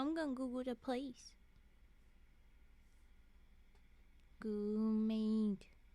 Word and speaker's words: Goomade: Goomade. Spelled like goo made, but in one word.